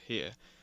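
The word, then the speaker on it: Jerez: So, however you pronounce that, I'm pretty sure you pronounce it with an H sound.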